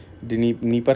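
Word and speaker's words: Dnieper: नीपर river जो है, नीपर है ये डिसाइलेंट शायद, originates in the western part of Moscow and drains in black C.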